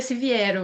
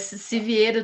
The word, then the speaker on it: Siviero: aqui a professora Vitória Siviero ou Siviero. Eu sempre tenho esse problema com o Se seu nome. vier, a pronúncia certa seria Siviero mesmo, mas Siviero também vale.